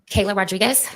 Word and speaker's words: Kayla: doesn't mean you really state your name and spell it for the record if you could for us Kayla Kayla k a y l a r o